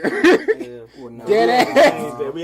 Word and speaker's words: Schwarzenegger: Wait, y'all know we've been pronouncing his name wrong? Probably because he's What not is American. It really is Arnold Schwarzenegger. Schwarzenegger.